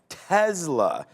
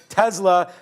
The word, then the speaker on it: Tesla: getting everything back on Tesla. The professor's got me saying that, but it is the right way to pronounce it, apparently, with a little bit of a Z action in there.